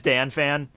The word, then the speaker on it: Dannphan: Please tell me it is Dannphan. It is? Yeah. Are you just trying to make me feel good for saying it wrong for like 3 months in a row? It is Dannphan.